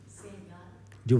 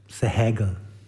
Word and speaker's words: Sehgal: Sehgal. Where does it come from? Middle East. Punjab. Sehgal.